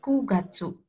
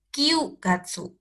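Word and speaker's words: 九月: hach Gatsu bulan 9 kugatsu kugatsu kug Gatsu bukan Kyu Gatsu kalau 9 itu kan Q tapi kalau di bulan 9 di jam 9. itu hanya kug Gatsu untuk bulan 9 kugatsu untuk jam 9.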